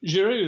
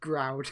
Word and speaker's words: Giroud: Giroud there, obviously a man whose name gets mispronounced by certain people. Groud.